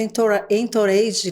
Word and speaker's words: entourage: tem o famoso efeito entourage, como é que eu pronuncio? Tô certa? Entourage. É francês, né?